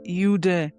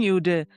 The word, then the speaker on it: Eden: Oh, it's pronounced as UD. It's thin ude. So ude is that's how it's in the bhya language but so bhya language